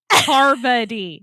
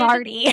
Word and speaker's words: Parvati: Parvati. Parvati. I Yeah, do. I say David- it Pavarti.